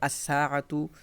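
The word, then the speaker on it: الساعة: রজুলুন থেকে আর রজুলু, র, এখানে সরাসরি উচ্চারণ হচ্ছে, লাম উচ্চারণ হচ্ছে না। সাআতুন থেকে আস-সাআতু, এদিকে জাহরতুন থেকে আজ-জাহরতু।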